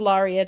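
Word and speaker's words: Larrea: The botanist will say it's Laria tridentata, but Larea is the way that my parents pronounced it, so that's the way I pronounce my name.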